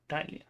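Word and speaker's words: ptyalin: बोलते हैं salivary amylase, या टाइलिन के नाम से भी आप देखोगे, पी साइलेंट ऐसे, और टाइलिन।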